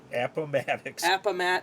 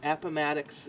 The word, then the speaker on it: Appomattox: April 9th, 1865, at Appomattox. not what I would have said, Appomattox Courthouse in Virginia. The Civil War, I was trying to pronounce it like approximate.